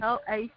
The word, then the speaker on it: Talacko: Okay, and I'm Talacko. Oh, okay. Mm-hmm. So it is Talacko is spelled I'm sorry.